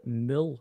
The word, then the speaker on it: Mole: So it's actually Mule. Pronounced Mule is French for muscle.